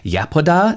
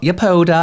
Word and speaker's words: Yepoda: But this last visit I had with Yepoda, not Yepoda, I've been saying it wrong for a very long time, really kind of reminded me why I fell in love with K-beauty in the first place.